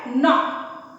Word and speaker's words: knock: फिर वर्ड आता है नॉक, KNOCK। यहाँ दो चीजें ध्यान देने वाली है, यहाँ K है जो कि साइलेंट है, एंड the next thing is CK, सो नॉक।